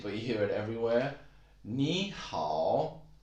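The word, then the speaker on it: 你好: 你好, 你好. Actually, 你 is a third tone and 好 is also a third tone. So 你好.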